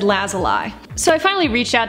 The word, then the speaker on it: Lazuli: up and he goes I think it's lazuli because that actually means a blue stone or something of the sort I've heard it